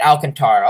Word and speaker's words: Alcantara: been pretty nice alcantara okay so i was pronouncing it right alcantara okay that's what i figured i don't know